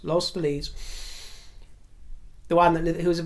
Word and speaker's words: Los Feliz: lives in La well let me pronounce this right I always get it wrong loss Los Feliz yes lost fleas the one that who's